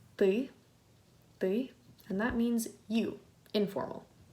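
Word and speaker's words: ты: But in this word, it's ty, and that means you, informal.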